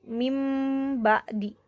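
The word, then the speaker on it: من بعد: Seperti ini, asalnya min ba'di jadi mim ba'di, seperti itu.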